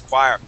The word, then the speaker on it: choir: that has a CH but we don't pronounce it with a CH sound all right so yeah that word is choir um and Andrea excellent